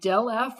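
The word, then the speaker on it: ∇f: here find del f it's pronounced del f or gradient f for tangent inverse of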